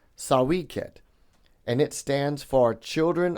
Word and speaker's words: Sawy Qed: Now the way you pronounce that is sawiket and it stands for children of the potter.